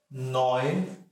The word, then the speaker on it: neun: Neun, neun. So here, EU, this sound, this is pronounced as oi, so it becomes nine, nine, nine, and then 10.